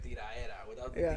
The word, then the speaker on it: tiradera: Cause you said like the stuff that sells is usually tiradera. Tiradera, yeah. Like beats. Yeah, like My by the Spanish. way, you don't pronounce the D. It's tiraera.